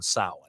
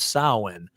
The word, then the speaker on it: Samhain: But, if you're listening out there, folks, tonight's episode's on Samhain. Now, Samhain, some people say Samhain because they don't know how it's pronounced.